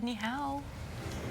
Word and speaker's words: Ni'ihau: been given that assignment if you just said neow any hello be go lasri it's Sunday September